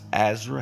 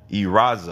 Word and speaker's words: Ezra: It's Ezra. Have I been saying your name wrong? Oh, you said you've been Eraza.